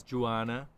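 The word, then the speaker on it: Diouana: follow this senegalese woman her name is joanna or joanna but it's spelled with a d a very cool name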